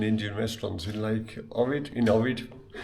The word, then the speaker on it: Ohrid: And we zoomed in, and there's actually an Indian restaurant in Lake Ohrid, Ohrid, say it properly.